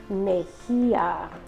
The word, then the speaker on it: Mejía: Julia Mejía, okay? Put the accent in that name.